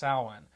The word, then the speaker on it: Samhain: festival it's actually a celebration that was called Samhain actually that's one of the pronunciations the most common at least in the spiritual sense it's actually pronounced saawan and what this was it was a it